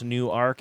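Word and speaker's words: Newark: That is a great pronouncer. I I really not have Do you recall that from the past that it's New Arc?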